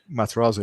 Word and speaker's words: Matarazzo: And you have guys like Mike Matarazzo. Did I pronounce his name right? Matarazzo, yeah.